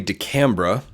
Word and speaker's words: de Camara: the defensive line and Cody de Camara it Cody de camra because pronunciation is important in the secondary at